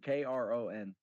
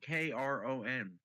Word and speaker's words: Kron: Crohn, Kron. Like the disease? No, Crohn, Kron. The disease is spelled with a C.